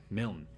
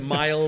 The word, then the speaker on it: Milne: Milne. Yeah. With the E, the E is silent. The E is essentially silent. And for a five-letter name, it gets mispronounced a lot. Yeah. I get Mile, Milne, Millen.